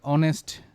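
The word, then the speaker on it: honest: এটার শব্দটা, এটার সাউন্ডসটা, এটার উচ্চারণটা ভাওয়েলের মতো নাকি কনসোনেন্টের মতো। তো অনেস্ট, অনেস্ট, তাই না? ওর মতো আসে আর কি, অনেস্ট।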